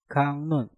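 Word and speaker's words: 강론: Kak diakhiri dengan giok, setelah itu diikuti kata yang diawali dengan real, maka giok kita rubah menjadi nyieng dan real kita rubah menjadi nien. Maka cara pengucapannya menjadi kangnun, kangnun, kangnun, kangnun.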